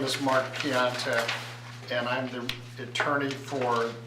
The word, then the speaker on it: Piontek: Mark Pointek, is that how you pronounce that? Piontek, close, close enough. Good evening. My name is Mark Piontek, and I'm the attorney for JSL Holdings.